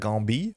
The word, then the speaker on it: Gambit: Creole, from my understanding, you generally don't say the T's at the end of words, so you probably would pronounce something more like Gambit. I do not know if Gambit calls himself Gambit. That sounds really funny, but the hard T's at the end do not get pronounced at all in French.